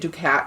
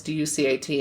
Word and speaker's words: Ducat: I was pronouncing it Ducat because it's D-U-C-A-T, and then I listened to a video by a person actually from Scotland, and they were like, Ducat, and I was like, oh, I had no idea. I've pronounced that name wrong throughout history then.